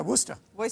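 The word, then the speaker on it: Worcestershire: either W sauce yeah Worster Wyer sauce don't say the middle syllable just go Worster Boyer sauce yeah and um some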